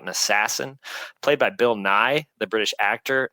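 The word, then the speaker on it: Nighy: black comedy about an assassin played by Bill NY the British actor not the Science Guy and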